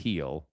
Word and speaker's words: Gil: Pronounced Gil.